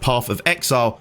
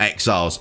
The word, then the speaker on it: Path of Exile: But one thing I think I have corrected for this video is it should be called Path of Exile, not Exiles.